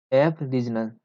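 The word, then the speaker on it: aboriginal: देखो इसका प्रोनाउंसिएशन आपको अच्छे से करना है, एब रीजनल।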